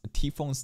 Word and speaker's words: Typhon: Bro, I can't believe motherfuckers got upset that I pronounced T-Phone's name T-Phone rather than Typhon. Motherfucker, are you listening to the Japanese pronunciation of the word?